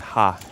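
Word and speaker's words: ห้า: Five is uh pronounced ha in Thai.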